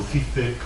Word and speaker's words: Žižek: Ben, Slavoj Žižek, ou Zizek, ou Zizek, parece que en esloveno se pronuncia Žižek, pero ele prefire que yo pronuncien mal, por motivos paranoicos, e ele, con moita gracia.